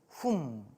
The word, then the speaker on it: 훔: 그래서 입구자 옆에 소우자를 쓰면 소울음 훔. 단어를 보면 딱 느낌이 오시죠? 발음은 훔. 그래서 입이 닫히는 소리예요.